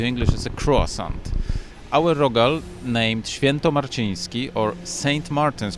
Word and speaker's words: rogal: Singular form is rogal. Plural would be rogale. And in Poznan we have very special type of rogal, which is sometimes translated into English as a croissant. Our rogal, named Świętomarciński or Saint